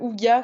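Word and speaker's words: hygge: Et aussi, j'avais noté, et d'ailleurs Anne m'avait dit Kezako, c'était avec le Houga qui s'écrit Ige, H-Y-G-G-E.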